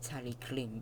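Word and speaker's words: Talyllyn: They were mistakenly said to be from the Tannin Railway, which has also probably been mispronounced as Tallinn instead of Tallyclin, but it's been said as Tallinn.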